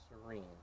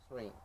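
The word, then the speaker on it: Syreen: The Y is silent, so I said Serene. Serene.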